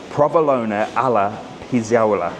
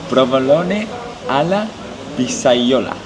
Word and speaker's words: provolone alla pizzaiola: Provolone alla pizzola. I've pronounced it wrong. Jack will pronounce it correctly. Jack, what is it? Provolone alla pizzaiola.